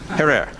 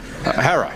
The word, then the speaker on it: Herer: Have I pronounced it correctly, Jack? Herer. Herer.